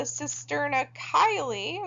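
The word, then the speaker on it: cisterna chyli: this thing called the cisterna kylie which is actually how you pronounce that one so sister and a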